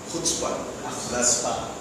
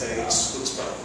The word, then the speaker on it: chutzpah: It's spelled C-H-U-T-Z-B-A-H. It's called chutzpah. Actually, it's chutzpah.